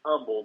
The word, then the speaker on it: Humble: Yes, it's Humble. The H is silent.